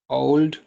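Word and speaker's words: Ould: आप लिख लें मोहम्मद ओ यू एल डी ओल्ड Mohammad ओल्ड Ghazni जी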